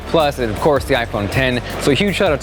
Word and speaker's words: iPhone X: Yo guys, Jonathan here, and this is iPhone 10. Now to clear things up, yes, it is spelled out iPhone X, but the correct pronunciation, just like Final Cut, just like Logic, is iPhone 10, the number.